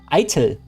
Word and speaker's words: Eitel: Eitel. Like I and then tell. Eitel. Eitel. It's basically like idle, but with a hard T.